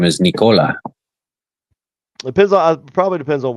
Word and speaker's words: Nikola: Nicola Tesla. more of an emphas not a very strong stress on it but it's certainly not on the second syllable not on the co syllable nicola I've heard people say